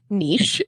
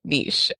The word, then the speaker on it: niche: a Linguistics nerd and it is Niche it's a French word and that's how you say it Niche would be spelled n-i-t-c-h and the word is not spelled that way so we say Niche all right yeah yeah